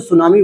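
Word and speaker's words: tsunami: रहा है और इसीलिए जो सुनामी वर्ड है इसमें आप देखोगे टी साइलेंट है एस यू एन ए एम आई बोलने को तो हम सुनामी यहीं से बोल देंगे लेकिन टी लगाया जाता है क्योंकि जपनीज कल्चर में टी को साइलेंट कर दिया जाता है यहां इसलिए जो सुनामी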